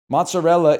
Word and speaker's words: mozzarella: Mozzarella is pronounced mozzarella, not mozzarella.